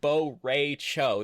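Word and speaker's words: Bo' Rai Cho: you there because I'm Bo Ray Cho. That's how he pronounces his name.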